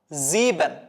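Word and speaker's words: sieben: സിക്സ് വരുന്ന സമയത്ത് സെക്സ് സെവൻ വരുന്ന സമയത്തും മെയിൻലി നിങ്ങൾ മനസ്സിലാക്കുക എസ് വെച്ചിട്ടാണ് സ്റ്റാർട്ട് ചെയ്യുന്നത് സോ സെഡ് ആയിട്ട് ഉച്ചരിക്കണം സീബൻ ഓക്കേ എസ് വെച്ചിട്ട് സ്റ്റാർട്ട് ചെയ്യുന്നു സെഡ് ആയിട്ട് ഉച്ചരിക്കാം സീബൻ സീബൻ സീബൻ നുൾ ഐൻസ് സ്വൈ ഡ്രൈ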